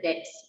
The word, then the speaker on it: debts: Liabilities related to the debts. Debts means loans. B is silent.